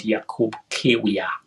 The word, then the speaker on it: Jakub Kiwior: Do you think Jakub Kiwior and Trossard and Jakub Kiwior is called Jakub Kiwior? That's the right pronunciation of the name.